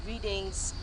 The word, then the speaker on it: Reading: It's Reading they spelled here. Yes, but that is how it's pronounced. Reading. Yeah. It's a football club. Reading. Yeah. R-E-D-D-I-N-G. So your R-E-A-D is actually red as well. Red, yes, yeah, sure. So it's Reading.